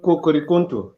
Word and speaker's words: Kukurikuntu: It is called Kukurikuntu. That's my name. Kuku? Kukurikuntu.